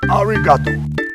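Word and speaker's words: ありがとう: gives you a present say arigato pronounced arigato yes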